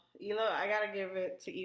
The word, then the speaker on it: Hila: I really felt bad for Hilia. Sorry, guys, I don't watch a show like this. Ela. It's spelled Hila. Oh, okay, Ela. But it's Ela.